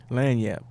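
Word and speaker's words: lagniappe: Speaking of getting out the mud, how do you pronounce that album? Lanyap.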